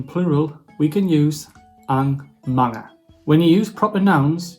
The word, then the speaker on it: mga: It is pronounced as mga.